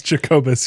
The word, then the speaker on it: Jacobus: It's Jacobus, yes.